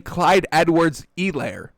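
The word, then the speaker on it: Clyde Edwards-Helaire: the um the telecast the guy kept saying clyde edwards elaire now that's probably the correct pronunciation because they meet with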